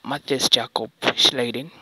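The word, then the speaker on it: Matthias Jakob Schleiden: educational purposes uh and I know that it might be weird because you might not expect his names to be pronounced this because uh these guys were Germans these guys were Germans and these names are pronounced in a in a German manner yeah so trying to pronounce them in an English way you might get them wrong okay so um so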